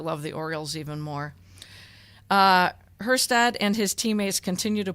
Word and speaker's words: Kjerstad: Heston Kjerstad, because I think the K is silent. I could be wrong. If so, it's Kjerstad.